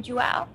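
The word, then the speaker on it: João: I mean, Joao, is that how you say his name, Joao?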